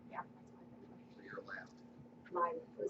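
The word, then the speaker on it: Laiv: Live. It's L-A-I-V, but it's pronounced live.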